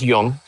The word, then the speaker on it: Young: Um I know it's pronounced a little bit differently in China, but he tells me to pronounce it Eric Young. Um, I think it's Yung.